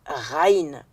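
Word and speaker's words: غين: Tandis que le G H en arabe, c'est une seule consonne qu'on prononce comme un R à condition de ne pas le rouler. C'est la consonne Raïn.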